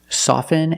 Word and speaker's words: soften: often with both words I don't pronounce a t i say soften and I say often but sometimes you'll hear people say often and it's not wrong it's okay people say both often and often I prefer often now the word soften you can never say soften it's always soften and it means to